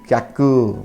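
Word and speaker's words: きゃく: How the pronunciation will be kyaku. Very good. Ki and ya will be kya and then ku.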